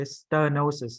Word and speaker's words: stenosis: Like, and then right in the it's You see the EH is okay, stenosis, not stare. There's no stare. Air is Vietnamese. There's no air in English. Okay, it doesn't pronounce air. Stenosis, not stenosis.